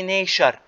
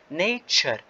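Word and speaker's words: nature: اوكي نركز على هاي الكلمة، يعني انا هون ما بحكي نيشر، لا نحكي نيتشر نيتشر بيكتشر ستراكتشر ليكتشر كلتشر اند فيوتشر.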